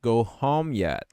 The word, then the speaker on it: home: go home yet can home esse M perceba que home esse e do final não é pronunciado esse de home vai